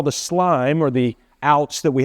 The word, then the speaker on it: SLME: So if we came, for instance, in subcontractors, the first of our slime that's here. By the way, the I doesn't mean anything. It just helps us pronounce the word.